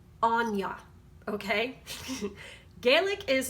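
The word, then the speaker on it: Áine: irish and her name this see that it's pronounced anya okay gaelic is like intriguing af to me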